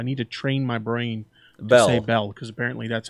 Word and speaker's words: Belle: way I gotta say Bell I keep saying Bella a lot of you guys directed me in the lancet Bella Bella that I need to say hello I need to train my brain Belle Belle because apparently that's how you pronounce it